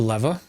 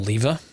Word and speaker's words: lever: So if we put this in, and we flip the lever, or lever, I'm English, I shouldn't pronounce it the American way, and use the angular transducer, you'll see we're slowly losing power.